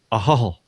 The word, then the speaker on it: Ahoghill: I'm in Ballymena in Northern Ireland, in a little town spelt Ahoghill, and it's pronounced Ahol. Not Ahog Hill.